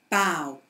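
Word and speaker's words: bough: From the pronunciation page, we're going to start with the word bow.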